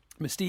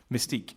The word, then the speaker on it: Mystique: um Mista how do you say her name Mystique Mystique sorry Mystique there is there is there is a character